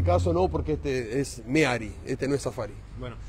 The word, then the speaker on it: Mehari: Se escribe con H, es Meari, pero bueno, vulgarmente dicen Mehari, pero es Meari, la palabra correcta es Meari.